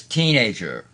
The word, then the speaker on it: teenager: walking down the street first syllable stress teenager teenager teenager a black teenager a